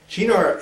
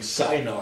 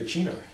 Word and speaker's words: Cynar: It's a lot better than saying Cynar because it sounds like cyanide if you do that.